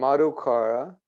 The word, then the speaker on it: Madhukara: And Madhukara, so his name is spelled M-A-D-H-U, Madhu, and the same name, K-A-R-A, Madhukara.